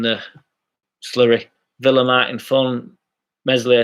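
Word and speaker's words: Meslier: slurry villa martin fun messily silent s made significant saves at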